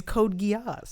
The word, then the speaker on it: Code Geass: typo what yes yeah this is how it's written code yeah is that how it's said yeah the is code geass i've seen i saw